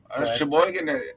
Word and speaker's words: Sheboygan: up in Sheboygan in the 70s, if I'm pronouncing that right? Yeah. Sheboygan, it's a town of about, 50,000 people.